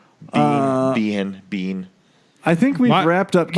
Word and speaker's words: Biehn: Blair's no bean yeah that's how you say his name is Michael Biehn bean I think we wrapped